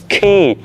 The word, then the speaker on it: quay: Top 5 này mấy ngộ nè, nhìn vô tôi luôn đọc là quay quay đó, nhưng mà nó không phải quay đâu, nó là khi, cầu cảng.